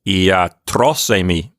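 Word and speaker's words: ἰατρός εἰμι: And so it gives away its accent to iatros. Iatros already had an accent there, so that syllable just keeps its accent in that same spot. And it sounds like iatrosemi.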